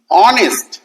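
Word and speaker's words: honest: যেমন এইচও এনই এসটি অনেস্ট এই এই উচ্চারণ যুক্ত হয়ে গেল।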